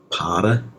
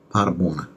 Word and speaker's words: Paderborner: I was thinking it's Paderborner. Paderborner. Because in Germany, the ER sounds, they pronounce like an A.